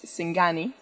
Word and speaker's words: singani: And then the last thing that we have here is probably the most Bolivian of them all, which is Singani. Exactly, very well pronounced.